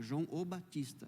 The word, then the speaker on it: João o Batista: Até porque João Batista não, João o Batista. Essa é a pronúncia correta.